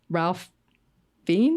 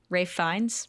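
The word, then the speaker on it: Ralph Fiennes: It's also interesting because Ralph Fi, is that how you say his name? Rafe Rafe Fines. Rafe Baltimore. It's It's also Rafe. It's not Ralph.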